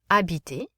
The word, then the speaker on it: habiter: Dîner, écouter, habiter. Notice the H isn't pronounced.